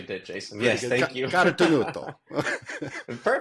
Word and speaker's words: Carotenuto: Today, we've got Carotenuto, founder and owner and co-owner of LivTours. did I say it right? Yeah, you actually did, Jason. Yes, thank you. Carotenuto.